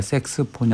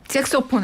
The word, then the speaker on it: 색소폰: 병행해서 하고 계시네 예 발음 잘하셔야 됩니다 섹스폰 아니고 섹소폰 색소폰 알겠습니다네 그래서 꼭 재첩이